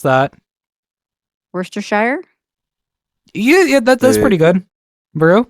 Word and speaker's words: Worcestershire: Obviously, it's Worcestershire. La tuya. Yeah, Worcestershire. Yeah, Worcestershire. No, not Shire, because Shire shosh. Because you don't say the Shire, because the Shire is